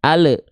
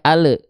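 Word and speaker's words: ال: e contohnya perhatikan baik-baik alhamdu alhamdu alhamdu ada bunyi Le di sana pada di pada lam sukunnya AL nah itu keliru ya Jadi enggak boleh Ale al ha ya Kenapa huruf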